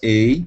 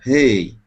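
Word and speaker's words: הא: Quinta letra, Rei ou Ei, né? Pronúncia israelense, Ei. Pronúncia brasileira, Rei.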